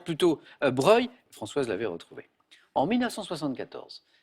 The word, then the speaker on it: Broglie: Broglie, mais on Ouais, prononce plutôt Breuil.